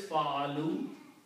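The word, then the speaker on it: فَعَلُوا: For plural it is fa'alu. We had waw and an alif which is not recited. It's called alif-e-wiqaya. Okay? Which means do not pronounce, and that's the reason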